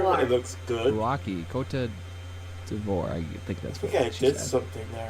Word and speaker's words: Côte d'Ivoire: It's pronounced Côte d'Ivoire.